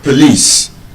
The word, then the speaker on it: police: So, observe the way I pronounced it. It is not po- lice. And it's not police. Often time when I tell students to pronounce that word, they would often think they know the correct pronunciation. They I know it's not police, it's please. It's not please. It's not please, it's not police. There's a schwa sound in the O.